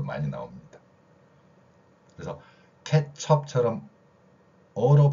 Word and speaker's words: 케첩: 일본어 영향을 받아서 어를 아로 발음하는 거, 케첩을 케찹이라고 발음하듯이.